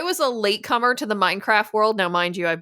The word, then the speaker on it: Minecraft: It's not pronounced Mean Craft Day? No, exactly. No French accent in there. So yeah, I was a latecomer to the Minecraft world.